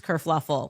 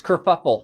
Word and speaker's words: kerfuffle: Prince Harry abdicates England, causes this whole race kerfluffle. Oh, no, it's kerfuffle. We knew a kerfluffle happened. Kerfuffle. Because this dress kerfluffle.